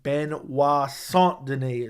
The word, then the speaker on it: Benoit Saint Denis: 5-round fight, I'm taking Benoit Saint Denis is how you say it, actually.